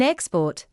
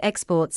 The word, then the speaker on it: export: In export, the first syllable is stressed because the word is a noun. Scotland exports a lot of wool. Here, the second syllable is stressed because exports is a verb.